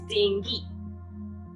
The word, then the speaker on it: dengue: The correct pronunciation is dengue.